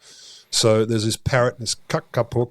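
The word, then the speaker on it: kākāpō: So there's this parrot, this Kakapo, probably Kakapo, I think it's long A's.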